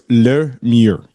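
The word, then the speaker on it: Le Mur: So it's Lemure. Lemure. It's stupid because there's no R's and you're pronouncing two R's. There's no R. It's le. L-E is le in French, which means the, and mur You're literally saying ours.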